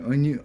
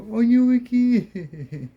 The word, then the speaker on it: Onyewiki: And it was cool because Pay Officer Mason didn't know how to pronounce his name. He was like Onyu, and then we will all go Onyewiki.